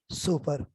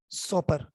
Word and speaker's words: Soper: उसका नाम है advance biology by सुपर। सुपर की स्पेलिंग है SOPER, SOPER। SOP तो आप जानते हैं, आजकल कोरोना का बड़ा मशहूर नारा SOP, तो SOP के साथ ER लगा दें, सुपर। ये है एक रेड कलर